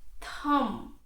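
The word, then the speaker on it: thumb: the first one is Thum it is not Thum it is Thum B is silent here K Kum Kum it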